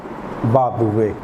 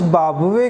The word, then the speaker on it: بابویہ: ایرانی نام تھا، بابویہ۔ اب اس بابویہ کو دو طرح سے تلفظ کیا جا سکتا ہے۔ ایک مرتبہ تلفظ ہے اس کا بابویہ، اور ایک مرتبہ اس کا تلفظ ہے بابویہ۔ ایک مرتبہ پیش کے ساتھ ہم بے کو تلفظ کر رہے ہیں اور ایک مرتبہ جزم دے رہے ہیں، بابویہ، اور ایک مرتبہ بابویہ، اور اتفاق سے دونوں ہی تلفظ صحیح ہیں۔ چاہے کوئی شخص ان